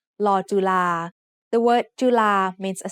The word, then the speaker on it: ลอจุฬา: ลอจุฬา ลอจุฬา is a very uncommon letter, but one word that you'll see it in is the word nalika, which means clock.